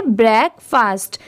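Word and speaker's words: breakfast: इसे हम क्या पढ़ेंगे ब्रेकफास्ट अब यहां पर देखिए बी आर ई ए के यहां पर इसको हम प्रोनाउंस करेंगे ब्रैक और एफ ए एस T first दोनों को मिला देंगे तो ब्रेकफास्ट यहां पर बी आर ई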